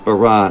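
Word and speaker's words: Barat: so madeleine sophie barra it looks like barrett but they pronounce it bara in france and she is the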